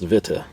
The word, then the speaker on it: Witte: To make these drivers, we've partnered with Witty, pronounced Vita.